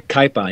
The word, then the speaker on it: Kaipa: you seen since your early days with uh cape or i hope i'm pronouncing that right in the 1970s yeah kaipa yeah that's right uh well i've seen many